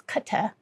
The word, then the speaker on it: Qatar: They pronounce this as Kata over there. That's how they pronounce it.